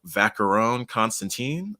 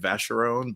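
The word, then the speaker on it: Vacheron Constantin: on billionaires row uh vacarone constantine pretty sure it's how it's said i've shown you before that the only reason i know that is from rap songs honestly so until yesterday i probably would have said vacheron but i was watching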